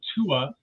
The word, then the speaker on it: Tua: want to uh share I pronounce it Tua Tua no one will ever get it right so you call me whatever you like but yeah I call myself Tua I think I mispronounced